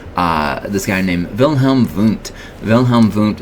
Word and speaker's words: Wilhelm Wundt: Wilhelm Wundt is a German guy, as you might expect, because I'm pronouncing his W's like V's.